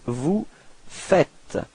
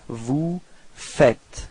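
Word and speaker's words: vous faites: the strange form uh logically we could put this vu fuz but then no it's Vu fet okay keep in mind that final s is not pronounced Vu fet okay repeat vu fet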